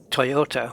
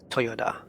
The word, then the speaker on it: Toyota: the way you pronounce Japanese car names are different to what you think they are um like Toyota we would just say Toyota but in Japanese it has to go down so it's like Toyota Toyota these are and these